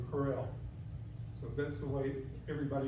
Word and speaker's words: Kroell: To pronounce it properly, you purse your lips and say Kroell.